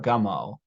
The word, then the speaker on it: Gummo: Do you say Gummo or Gummo?